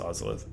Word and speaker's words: Ozolith: I said it's pronounced Ozolith. You can be wrong if you want.